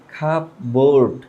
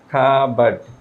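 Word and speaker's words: cupboard: আমরা এটাকে নরমালি বলি খাপ বোর্ড। খাব বোর্ড বাট এটার উচ্চারণটা হবে খাবারড। খাবারড খাবার। ব্রিটিশরা যেহেতু আর উচ্চারণ করে না এখানে কাবার্ড হবে না।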